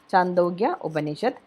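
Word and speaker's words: Chandogya Upanishad: in chando yeah banished i think that the pronunciation is that chandogya obanishad i am that i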